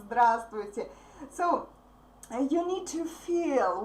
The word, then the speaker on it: здравствуйте: We don't pronounce V in the middle.